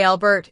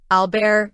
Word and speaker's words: Albert: If you're speaking English, a Albert is your safest bet. If you're conversing in French, Albear is appropriate. And if you're navigating German, ah Albert is the way to go.